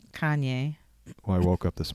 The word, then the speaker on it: Kanye: Cayenne West. Is that how you pronounce his name? Kanye.